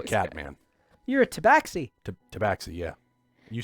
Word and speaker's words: tabaxi: man i'm a cat man you're a tabaxi tabaxi yeah you said it right it's good yeah